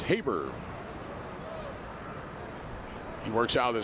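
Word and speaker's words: Haberer: It's actually Jack Habber. Throws you off a little bit because the last name is spelled. H A B E R E R, but it's pronounced Habber.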